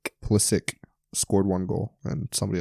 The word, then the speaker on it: Pulisic: actually I thought about wearing my uh Christian pulisic Jersey but um decided against it um so